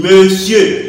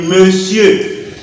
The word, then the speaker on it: monsieur: Ça se prononce, ça se lit monsieur. On écrit monsieur, on dit monsieur.